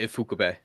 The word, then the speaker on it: Ifukube: Is it Ifukube? Yeah, Ifukube.